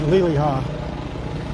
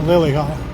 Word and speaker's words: Liliha: And I've said Liliha, not Liliha.